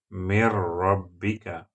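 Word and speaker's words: مِن رَّبِّكَ: The real word is Min Rabbika. Min Rabbika. You have to apply rule of Idgham because Ra letter is coming after Nun Sukun. Add this Nun into Ra and pronounce it Mir. Mir Rabbika.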